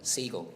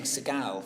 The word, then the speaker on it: Siegel: Siegel. Yeah, I was saying Seagal. I was saying Seagal and people thought Stephen...